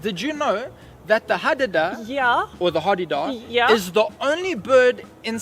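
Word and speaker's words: hadeda: about birding but my favorite bird is the hadada although i've heard something yes it's pronounced with three a's there's three a's in there although i've heard some people call it the hardy-dah i know the hardy dark i think i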